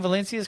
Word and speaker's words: Valencias: I feel like Val am I saying valencias correctly you actually are saying it correctly crushing